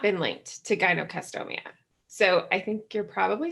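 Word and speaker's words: gynecomastia: medical term for this, and my pronunciation might be off on this too, because I've only read it and never heard it, Gynocastomia. Is that right? Yes, that's how I've heard it pronounced.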